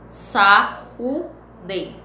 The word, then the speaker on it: saúde: Ao pronunciar a palavra saúde, observe que produzimos três movimentos, as sílabas. Sa, U, de.